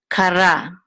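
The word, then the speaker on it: קָרָא: And this is a kaf, a kuf, and this is a kamatz, which says so this is ka, and a resh with a kamatz, and this aleph is silent, so it will say ra, kara.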